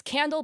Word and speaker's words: Qandle: Okay, so it's Candle, but it's spelled with a Q instead of a C.